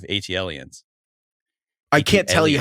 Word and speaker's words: ATLiens: Oh, I called it ATLiens, the song or whatever, instead of ATLiens.